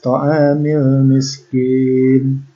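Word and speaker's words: طعام المسكين: Nah, alif lam komariah itu cara bacanya adalah alif lamnya ini tidak dilebur, ya, dibaca jelas. Biasanya ditandai dengan sukun di atasnya. Ya, wala yahuddu ala ta'amil, mil alif lamnya dibaca jelas, ta'amil miskin, kin mad tabi'i di akhir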